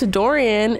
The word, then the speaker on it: Dorian: hold on Lola thinks Dorian is I say his name was Darian before his name is Dorian so she thinks dorian's